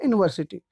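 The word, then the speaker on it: university: एक बहुत ही well known example मैं पहले लेना चाहूँगा, यूनिवर्सिटी। अब देखो यूनिवर्सिटी, यूनिवर्सिटी, यहाँ पे जो यू है बच्चों इसका उच्चारण देखो यू हुआ है, ठीक है।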